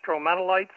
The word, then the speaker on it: stromatolites: Yeah, because I think the correct is the pronunciation stromatolites.